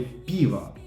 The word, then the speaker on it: пиво: Кстати, в слове пиво ударение на и, а не привычное нам о.